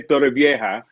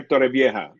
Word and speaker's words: Torrevieja: Okay, but I the think, British people would say Torrevieja. I don't know why. Vieja. The Yeah, J, I don't know. I don't know. They yeah, pronounce the J as K, yeah, or something like that.